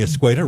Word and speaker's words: Escueda: Escueda, rhymes with tomato, is here. The Public Utilities Director. You like your new title? I like that. Yeah. Thank you. Escueda, rhymes with tomato.